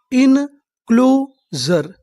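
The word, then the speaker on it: enclosure: अगर आपको इंग्लिश के किसी भी मीनिंग के आखिरी में एस यू आर ई लिखा मिले तो हम लोग एस यू आर ई को पढ़ते हैं जर।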